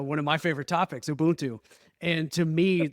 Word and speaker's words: Ubuntu: about um something um spelled ubu n t pronounced Ubuntu very nice and you